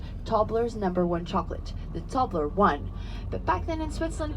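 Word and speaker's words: Toblerone: people couldn't speak English so instead of saying tobler one they started saying tobler own and it's stuck and you still even though you don't speak Swiss you all pronounce tobleron the Swiss way nobody says tobler one Emil says tobler one please don't say tobler one it's very very strange sounds sounds very alien I like we're entering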